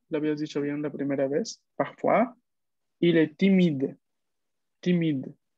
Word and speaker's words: timide: Mais parfois, l'avais dit bien la première fois, parfois, il est timide. Timide. No, la prononciation, c'est para quien la D. No, la E, recuerda que es muda.